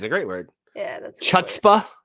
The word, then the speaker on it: chutzpah: Yeah, that's chutzpah. Chutzpah is a good one. Mm-hmm. I like that. Chutzpah actually is how it's pronounced, but I always say it chutzpah because Hanukkah.